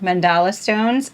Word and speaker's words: Mandala Stones: yeah right so two-player mandala stones i said it right mandala stone it's with a d not a c teach and play through